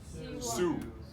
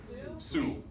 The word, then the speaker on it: Sioux: First, let's get the pronunciation of this down. Sioux. Sioux. Sioux. See you.